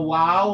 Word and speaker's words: waw: supposed to be what so the upper teeth should never be touching the uh the upper t should never be touching the lower lips when we're pronouncing uh what do you call it a wow that would be incorrect that will create a v sound this is not a v it's like a w sound w don't have your